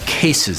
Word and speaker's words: Kaces: a drum rug by a company called cases that's spelled with a case okay a-c-e-s uh their product is